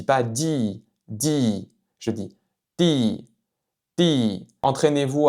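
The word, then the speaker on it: 弟: C'est vraiment entre le son D et T en français.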